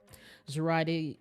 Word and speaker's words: Zerati: Zerati. Zerati. But it's spelled like karate, but instead of a K, it was an X or Z. It was a Z.